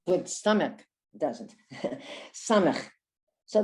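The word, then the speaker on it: סמך: Samach. So the samach has the same sound as the sin.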